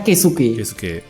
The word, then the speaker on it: Keisuke: Terus desain karakternya dipegang 2 orang, dipegang oleh Bapak K. Stripsuke, dibacanya Keisuke.